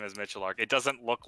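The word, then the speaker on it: Miculek: Well, he pronounces his last name as Michelark. It doesn't look like it's spelled Michelark, but that's how he pronounces his own I just last know thank him you.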